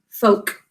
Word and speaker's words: folk: Okay, so we will pronounce this word as folk. That's usually how you hear this word in America, folk. But we think to spell folk. Right? And feel free to use it that way as we're talking about it in spelling, folk. There's a silent O there. Fingers under your chin for this folk, one syllable.